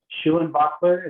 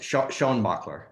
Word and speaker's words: Schoenbacher: Schuenbacher, is that correct? Very close. Sean Bachler.